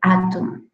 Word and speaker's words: atom: Recordemos que si tenemos la M al final, ese sonido nasal debe ser pronunciado de forma más fuerte, atom.